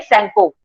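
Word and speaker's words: Tsangpo: सैंगपो। सैंगपो, T silent होता है, then SANGPO, सैंगपो।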